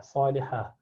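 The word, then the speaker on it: صالحة: Ta at the end, rounded ta, which when you stop at becomes ha, salihah.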